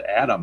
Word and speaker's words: Adam: From the right side, they have Jason, I guess it's just pronounced Adam. I don't know if it's got some special pronunciation, but it's just Jason Adam, I call him.